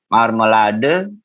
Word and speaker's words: Marmelade: Marmelade, ya jangan lupa huruf E-nya dibaca marmelade.